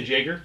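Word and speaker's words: Jaeger: the name of the jager down here as well as the specific room logo would i say jager yes it's german so you you pronounce it like a y i did it's awful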